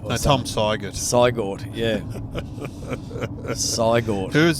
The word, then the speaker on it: Siegert: Well, everyone was getting into us for mispronouncing Barubin, and I was brought on as Tom, I think it was Saget. Tom Siegert.